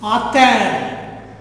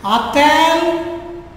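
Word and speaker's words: a-t-elle: So for pronunciation sake, add a T in the middle in both the cases.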